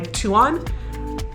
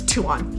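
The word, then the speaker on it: Tuan: And probably because it was just myself and my guy Tuon. He said that's the English way to pronounce his name and I I'm going to stick with it's Tuon.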